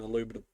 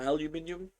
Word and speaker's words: aluminum: They're like an aluminum. Yeah, they're a little bit stronger than aluminum. Aluminum or aluminium. Aluminum. Stupid. Alum. It's spelled aluminum. I know. Aluminum. There's There is no ooh in there.